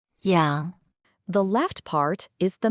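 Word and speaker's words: 洋: It's pronounced yang.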